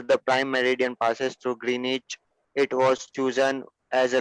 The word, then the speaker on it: Greenwich: so muhammad the uh w in greenwich is silent so we call it as greenwich it's a small place